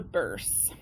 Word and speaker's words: burse: Next on top of the veil is the burse. And this is how I remember it. Burse rhymes with purse, and purses hold things, and so do burses.